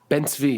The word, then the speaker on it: Ben Zvi: I'm sorry if I'm pronouncing this person's name wrong. Ben Zvi. Ben Zvi, yeah.